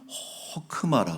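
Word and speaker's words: חכמה: 근데이 단어의이 지혜라는 단어의 히브리 말은 호크마라 그래요 호크마 그래서 들어보신 분들도 있을텐데 호크만 돼 호크마 이렇게 이제 읽습니다 그래서 호크마는 뭐냐 하면은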